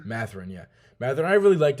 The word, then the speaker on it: Mathurin: Benedict Mathurin. Mathurin, yeah.